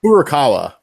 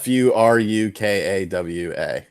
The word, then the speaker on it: Furukawa: here sean is that i always mispronounce is like horikawa I feel like contort my face to say it just I think it's fu ru k AWA Furukawa that's how I've been